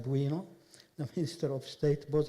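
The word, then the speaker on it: Bwino: And Honorable Fred Kyakulga Buino, not Bono, but Buino, the Minister of State, both of them from the Ministry of Agriculture and Animal Industries and Fisheries.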